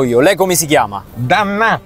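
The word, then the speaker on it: D'Annà: Dannà. Dannà, è il suo cognome? Eh sì, Dannà, di apostrofo Annà, con l'accento sulla A.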